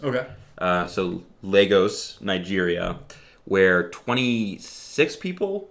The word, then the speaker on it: Lagos: spelled like Lagos but it's pronounced almost like Legos okay so Legos Nigeria where twenty six